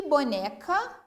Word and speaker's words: boneca: E boneca? Bo-ne-ca. Pronunciei com mais tonicidade o né.